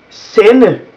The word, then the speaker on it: sende: That is the mute D. And then we have, whenever in Danish you use a double T, when you use T 2 times in a row, it is actually pronounced as a D, like my name. That is just a D sound, even though it's actually T's.